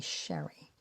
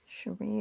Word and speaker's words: Sheree: I was growing up my family did not call me Sheree my family called me Sherry Sheree is my way too fancy for a woman my age name my proper pronunciation of my name but I grew up